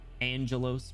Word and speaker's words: Angelos: Angelos pronounced like angel got bigger things to look at.